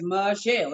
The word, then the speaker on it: Michelle: It's Michelle. It's 2 syllables, boo.